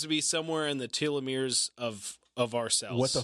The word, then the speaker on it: telomere: seems to be somewhere in the telomeres of our cells.